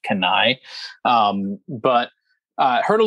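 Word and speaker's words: Cannae: talking to me about kanai pro gear spelled c-a-n-n-a-e so a lot of people will say kane pro gear i think it's actually pronounced kanai um but i heard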